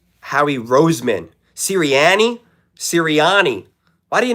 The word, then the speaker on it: Howie Roseman: Did he just say Howy Rosen? Howie Roseman?